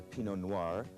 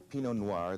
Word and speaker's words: Pinot Noir: Here we have the Pinot Noir. Pinot Noir, the grape that makes the great red Burgundies of France.